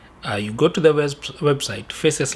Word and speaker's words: FACES: You go to the website, FACES, like I'm pronouncing it, F-A-C-E-S, FACES. I'll put the link below of their website.